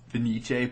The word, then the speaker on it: Fenice: There was it's pronounced Fenice, but trying to type that in is really difficult.